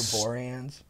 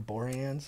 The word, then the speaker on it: Boreanaz: And just dialing up some dialogue for Boreanaz. Huh? Dialing up some dialogue for Boreanaz. Exactly. And Boreanaz.